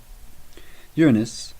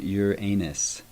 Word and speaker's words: Uranus: Uranus, referenced as heaven in the translation we're working with today, should not be confused with the mispronunciation Uranus.